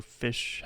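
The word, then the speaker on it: ghoti: head due to like the crazy pronunciation of gh which is f in some words like tough and then o which becomes like a i with the word woman and then t like nation. So fish head gy blew my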